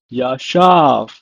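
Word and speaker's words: ישב: In Hebrew, it's pronounced as yashav.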